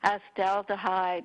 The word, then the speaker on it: acetaldehyde: about acetaldehyde toxicity and acetaldehyde is spelt a CEP aldehyde not a cid but it's sons like that and we're talking about it in the summer months because the things that produce acid aldehyde are more common in